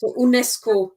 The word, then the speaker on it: UNESCO: was good 1996 some we pronounce it as if it was a german word unesco vegeta right okay let's